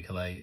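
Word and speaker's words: Caillat: I'm pretty certain as I pronounce it. I did discover this in the video. I think I guessed it was Calais, and it was. So I did well on that one. So Colby Calais, who is another singer, of course.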